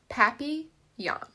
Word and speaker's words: papillon: hope we get a papillon like our neighbor's dog you say it like this papi young in french it means butterfly i help mrs devine